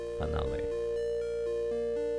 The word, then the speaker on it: Finale: Finale is pronounced Finn like Finnish or Finnish followed by Ali. Finale.